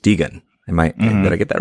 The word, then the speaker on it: Degen: One of whom is ADgen, which, oh no, I did it again, Derek. Spelled A.degen, and it's pronounced Degan.